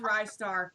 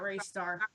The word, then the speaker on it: Ristar: yeah that's exact also it's pronounced ristar not ray star I don't know why